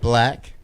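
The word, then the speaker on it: 6lack: Black, spelled S6 LACK. Yeah. Okay. He's, okay. Pronounced black.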